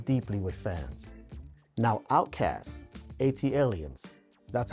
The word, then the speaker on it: ATLiens: Now OutKast, ATLiens, that's how I pronounce it, redefined the South, showcasing a futuristic soundscape that was as experimental as it was groundbreaking.